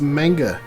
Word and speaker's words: manga: It's pronounced manga, you uncultured swine.